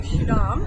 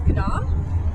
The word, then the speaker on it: Schiedam: We would say Schiedam, how it's spelled, but it's Schiedam.